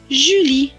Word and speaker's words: Julie: fin est écrit en peloton qui ne se prononcent pas cela donne jus lee julie c'est un prénom plus loin de l'être à